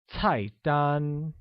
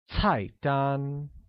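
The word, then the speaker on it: 菜单: look menu translates to tight done which is pronounced with a falling tone on the first a and a high level tone on the second can you say that once again it's tight done very good similarly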